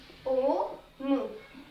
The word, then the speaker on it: ओम: ओम को हम किस तरह से लिखते हैं, ओ मु, और बोलने में इसको बहुत लंबा समय लगेगा, परंतु ये ऊ क्या हम बोल रहे हैं उच्चारण के दौरान नहीं बोल रहे हैं, हम सिर्फ ओम बोल रहे हैं।